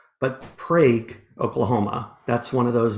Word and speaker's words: Prague: Colton comes from not Prague, but Prague, Oklahoma. That's one of those mispronounced Oklahoma town names.